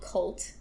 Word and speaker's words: CVLT: So I was at a studio called Cult, and do they still exist? They do still exist. It's spelled CVLT instead of CULT.